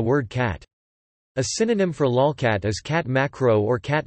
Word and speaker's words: lolcat: A lolcat, pronounced lolcat, is an image macro of one or more cats.